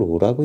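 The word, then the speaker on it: ρ: 이걸 로라고 읽는데요.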